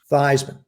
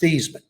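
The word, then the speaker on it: Theismann: says joe he said how do you pronounce your last name i said it's basement it's no actually it's pronounced theisman i said no roger it's pronounced thiesman he said no joe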